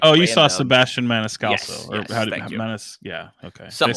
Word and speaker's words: Maniscalco: It was like, you saw Sebastian Maniscalco. Yes, yeah, okay. Something Did I say it right? that. Maniscalco.